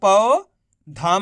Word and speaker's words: पौधा: कैसे पढ़ेंगे? पौधा। ऐसे नहीं पढ़ेंगे। पौधा। पौधा पढ़ोगे तो ओ की मात्रा का उच्चारण निकल जाएगा। आपको औ करके उच्चारण करना है।